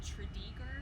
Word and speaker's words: Tredegar: town in wales uh technically we pronounce it wrong here in virginia our accent has changed the name a little bit uh so it's named after a town called tridiger whales which they had